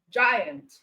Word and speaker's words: giant: Okay, so when G comes before EIY, you pronounce as J. All right, as the case of giant, GI, as the case